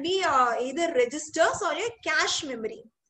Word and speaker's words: cache: So, internal memory can be either registers or a cache memory. This CACHE is pronounced as cache. Okay, see, like CASH.